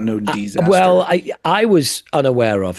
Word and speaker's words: Desaster: It's it's DE. It's a bad name, because if we have to have this kind of discussion, if you have to spell it out and explain it to me, it's disaster with an E, not an I.